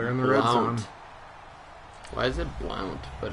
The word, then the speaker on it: Blount: Why is it Blount, but it's pronounced Blunt?